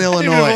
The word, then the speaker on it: Illinois: The S is silent. It's a silent S. There's only one Illinois.